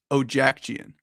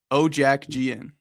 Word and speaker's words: Ojacian: And here's how you pronounce my last name. Ojacian. Ojac Gian. It's Armenian.